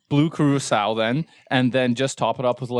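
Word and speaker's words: Curaçao: 2 parts blue Caruso, I don't know how Carousel.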